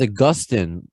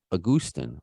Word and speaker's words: Agustín: way because I want to make sure I pronounce his name as respectfully as possible it says Augustine in my world uh the New York world don't dance the world it says but it's a a Gustin oh pretty good perfect but you